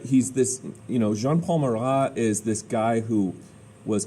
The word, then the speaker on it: Jean-Paul Marat: jean-paul mcgah he's like a french name so jean-paul mara is this editor of a paper and he calls for all kings all the king's supporters to be killed all right he's this you know jean-paul marat is this guy who was kind of this